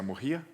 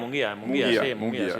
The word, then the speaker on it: Munguía: en una ciudad que no sé si pronuncia Mujía, que está cerca de Bilbao. Música, no sé. Es una ciudad que se Munguía, llama... Munguía, sí, eso es.